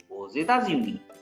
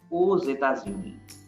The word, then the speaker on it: aux États-Unis: Elle habite aux États-Unis. Here X is pronounced as Z because before X it's U, after X it's capital E, like two vowels.